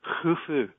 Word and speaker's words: Khufu: It's actually pronounced kh, as in loch, so it's actually Khufu, as opposed to Khufu, but most people just say Khufu.